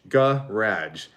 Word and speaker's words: garage: we they think that if i said it in my natural canadian dialect i would say garage ga raj but we don't say